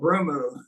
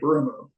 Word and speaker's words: ブルーム: So I was called Brumu in Japan because, you know, they don't pronounce L. So they use the word R. And they added the U on the end of it. They called me Brumu.